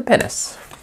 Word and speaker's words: pinnace: I never kind of pronounce that right. Is it Pinnace? It's P-I-N-N-A-C-E.